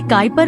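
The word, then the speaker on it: Kuiper: घेरा है हम इसे काइपर बिल्ट कहते हैं इसका उच्चारण काइ पार है यहीं पर आपको डवा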